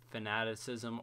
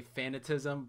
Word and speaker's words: Fanaticism: I can have the Fanaticism aura. I love when people say that wrong. They like say Fanatism, but it's Fanaticism.